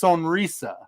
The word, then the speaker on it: Sonrisa: I I think it is pronounced Sonisa.